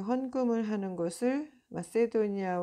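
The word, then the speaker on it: Macedonia: 포 어 마세도니아 마케도니아 마세도니아로 영어론 그렇게 발음하고 원래 그 헬라어에서는 마케도니아가 맞을 거예요.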